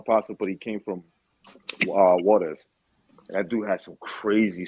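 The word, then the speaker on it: Juárez: That would be Juarez. Juarez. Yeah, Juarez. Yeah. I was good friends with a dude from out there. he grew up in he lived in El Paso, but he came from Juarez.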